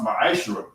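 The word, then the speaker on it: מעשר: Tithes, which is a commandment, you can find this in Numbers 18:21 and Malachi 3:8-10, means 10th in Hebrew, and is pronounced ma'ashra.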